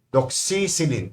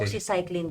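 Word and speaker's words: doxycycline: Doxyin. Tama ba ang pronounce? Doxyclin daw po.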